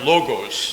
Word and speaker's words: logos: So the word here in Greek is pronounced logos.